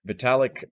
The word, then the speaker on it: Vitalik: is the founder of ethereum how do you pronounce his name vitalik vitalic i was definitely gonna say it wrong so vitalik uh i read some of his literature at